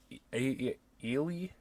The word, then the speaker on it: Eli: as him, named Eli, I think is how they say it. I mean, obviously in America we would say Eli, but she's a girl, so they just say Eli. It's like a mix of Eli and Ellie, kind of.